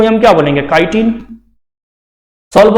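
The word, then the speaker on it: chitin: देखो काइटिन को हम प्रोनाउंसिएशन में और क्या बोल सकते हैं, चीटिन भी पढ़ सकते हैं या नहीं पढ़ सकते, ऑब्वियसली पढ़ सकते हैं, चीटिन भी कह सकते हैं।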